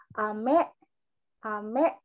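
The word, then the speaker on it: 飴: bedainnya gimana nah dari cara pengucapannya itu dia turun Jadi kalau permen itu dia naik intonasinya naik amee gitu Jadi kalau hujan itu dia Menya itu turun tapi kalau permen itu dia mainnya naik kayak betul ya jadi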